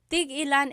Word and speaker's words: tig-ilan: Tig-ilan is a homonym, meaning it can have different translations depending on how it's pronounced. So tig-ilan, when there's a hyphen in it, you have to have that glottal stop.